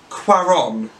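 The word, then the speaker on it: Cuarón: this but his name is so peculiar Alfonso Cuaron that's what he pronounced it but I'm gonna call him Alfonso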